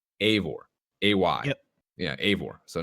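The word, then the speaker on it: Eivor: says that it's spell it's spelled yeah I've EO r and pronounced a voor a y-yeah a or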